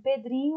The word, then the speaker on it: Pedrinho: Pedrinho, a sílaba tônica é dri, é a penúltima.